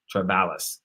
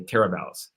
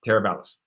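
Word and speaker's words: Teravalis: master plan Community called tralis all right or I should say teralis um that's the tentacle pronoun pronunciation terab balis all right terab balis and a lot of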